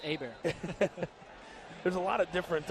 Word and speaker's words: Hebert: remember as a kid i thought it was bobby hebert my dad said no chris it's a bear there's a lot of